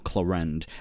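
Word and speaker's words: Clorinde: And Clorinda, where do you just come from? You gotta have been spying. Or Clorend. I gotta start calling her Clorend. That's how they pronounce it in game.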